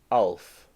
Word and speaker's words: ALF: Erin said, "I love that alien keeps pronouncing it like an acronym. Alien. It's ALF, like a name."